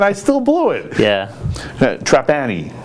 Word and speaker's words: Trapani: Trapani, right? Trapani.